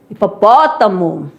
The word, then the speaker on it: hipopótamo: Não tem som pro H. Posso provar aqui para vocês, ó. Aqui você tem um animal, né? Hipopótamo.